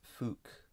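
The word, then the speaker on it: Fück: Here we have a scholar whose name is spelled F-U-C-K, but because there is an umlaut on the U, it's pronounced Fuuck. So Fuuck states or analyzes Schacht's positions as follows.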